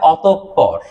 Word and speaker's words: অতঃপর: অতঃপর। উচ্চারণটা কি হবে? অতঃপর। আমি যদি বানানটা এইভাবে ভেঙে দিই আপনাদেরকে, প প র, ঠিক আছে? অতঃপর। ক্লিয়ার? হ্যাঁ হ্যাঁ হ্যাঁ, অতঃপর বলা যাবে না, কি বলতে হবে? অতঃপর।